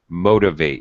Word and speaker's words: motivate: And also pronunciation with motivate. You need to motivate yourself. That's good. Yes. First syllable stress.